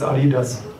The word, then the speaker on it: Adidas: I'm a German, it's Adidas.